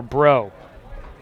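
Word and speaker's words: Breaux: to an o2 count now for bro bro not spelled like what's up bro but spelled like you're in new orleans b-r-e-a-u-x for the last name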